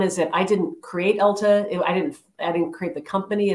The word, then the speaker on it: Ulta: I hadn't really shopped at Ulta that much. And, you know, in fact, a lot of people were calling it Ultra at the time. You know, everybody got the name wrong.